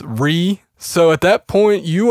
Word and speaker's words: Rea: click enable rote processing I keep saying Ria but I think it might just be pronounced re so at that point